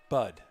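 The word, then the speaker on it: Budd: Bryce, how did you pronounce that? Bud.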